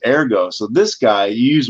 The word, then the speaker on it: ergo: ero ero ero eroo that's the Latin way you say Yeah in fact the right way say it Latin wise is ergo so this guy you